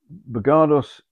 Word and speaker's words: Bogardus: man but you should read about him uh bergardos is spelled b-o-g-a-r-d-u-s regardless um you're looking the the glass balls here the three of them they were painted in about 1877.